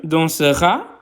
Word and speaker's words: danseras: tu அப்படின்றதுக்கும் il elle on அப்படின்றதும் ஒரே மாதிரி தான் நாங்கள் ப்ரொனவுன்ஸ் பண்ணுவோம். ஆனால் எழுதுறது வித்தியாசமாக இருக்கும். tu danseras il elle on dansera.